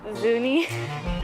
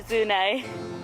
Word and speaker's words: Zuni: Zuni or Zunai? For sure, it's Zunai, I'm telling you. just pronounce it like the locals, you know.